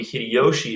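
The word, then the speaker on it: 秀吉: remember that then Toyotomi Hideyoshi is the one that bans all Christian worship is is to say hide Yoshi he's a Christian and we look at Hideyoshi it's spelled that way so it always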